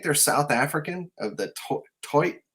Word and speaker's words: toit: I think they're South African of the toit. I'm gonna say it. It sounds ridiculous. Toit knot. That's how they say it.